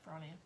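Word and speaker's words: Bronia: Is it Bronnia? Is that how you pronounce it? Yeah. Bronnia.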